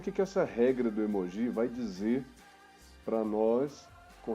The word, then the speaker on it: emoji: A pronúncia correta é essa mesmo, tá? Emoji.